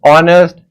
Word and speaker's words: honest: It will be noticed that the words our honest air begin with a vowel sound as the initial consonant h is not pronounced.